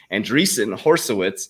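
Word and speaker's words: Andreessen Horowitz: sec now consults for anderson or andreessen i kept saying it wrong horseowitz so that's for my fan out there that kept clowning me andreessen horsowitz um but i'm gonna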